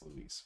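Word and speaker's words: Luis: For whatever reason, I guess nobody decided to check the voice actor's pronunciation, but it's not Lewis, it's Louise.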